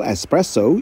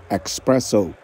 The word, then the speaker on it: espresso: yang lagi-lagi salah pelafalannya kopi ekstra kental Espresso yang sering disalah lafalkan menjadi expresso dari Washington DC Nova